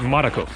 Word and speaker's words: Marko: Marko. Marko. Yes. Kind of like Marco, but Marko.